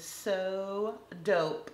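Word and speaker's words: So Daupe: Next up, this one is also from Sinful Colors and the name of this shade is So Dope, spelled like taupe, D-A-U-P-E.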